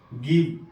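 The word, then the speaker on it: give: یہاں دیکھیے جی کے بعد آئی ہے لیکن تلفظ گاف کا ہوگا. گیو، جی آئی وی ای، گیو، گیو.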